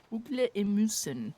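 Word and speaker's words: ugler i mosen: Ugle emusen.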